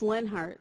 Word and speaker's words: Leonhart: Es heißt Leonhart Leonhart Denken Sie sich das O unausgesprochen.